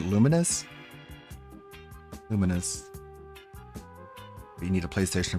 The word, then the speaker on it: Lumines: I I always thought this was pronounced Lumines. It's a background music chat. But uh VR, apparently Tevin pronounced it luminous.